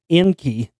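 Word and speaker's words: Encke: the Taurids left behind by the comet Enki, but not spelled like Enki and Enlil, but spelled E-N-C-K-E. But how else would you pronounce that?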